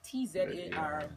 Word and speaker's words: Tzar: Okay, so the Tzar is Tzar, but the T is silent, as in Django P.